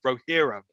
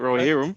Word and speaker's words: Rohirrim: Are you pronouncing it right? Rohirrim? No, you are. I'm looking at it. Rohirrim.